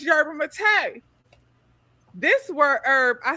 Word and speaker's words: yerba mate: I always said yerba mate. I found out that it's yerba mate. Who who the knew that? Who said that? Found out it's yerba mate.